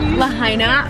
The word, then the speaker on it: Lahaina: and Lahaina ugly that's how you say it Lahaina okay let me zoom out that was